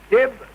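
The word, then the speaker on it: DYB: Dib, dib, dib. It is spelt D-Y-B.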